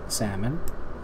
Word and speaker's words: salmon: is attractive to salmon salmon I always want to say salmon I don't know why maybe because there's an l that no one pronounces this is supposed to